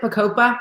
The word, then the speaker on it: Bacopa: So, Bacopa. That's how you pronounce it? Bacopa? Yes. It kind of sounds like a tropical drink.